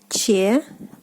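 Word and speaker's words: четыреста: 400 is 400. 400. 400. 400. So the stress falls on I.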